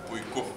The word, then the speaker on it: puiku: Puiku. What? Puiku. Puiku? Puiku. Puiku. I like that. Puiku. I got to do my hands like that. Puiku.